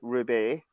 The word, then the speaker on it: R/B: titled as Ultraman R/B, pronounced Ruby.